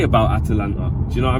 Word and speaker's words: Atalanta: want to just say atlanta is easy but got to pronounce it properly in it because it isn't atlanta georgia it is atalanta from italy um well do i